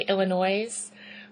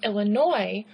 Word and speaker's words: Illinois: People will say Illinois. Okay, I don't know if that might be a northern thing to do, but that's not how they're pronounced. It's Illinois. It's Louisville, okay?